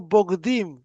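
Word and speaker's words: בוגדים: Y dice el Midrash que en hebreo no leas Begadim, sino Bogdim. Se escribe de la misma manera, Bogdim es un traidor.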